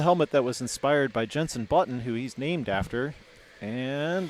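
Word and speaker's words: Jenson Button: Yeah, I didn't even know who Jensen Button was.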